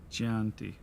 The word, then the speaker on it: Chianti: Chianti. Chianti. It's Italian. The CH is pronounced as a K.